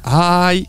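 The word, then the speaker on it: HAAi: Casi, casi, es que se pronuncia, es que es ay, pero ay, es que ay, es como H, A, A y una I en pequeñito y es que ay, ay.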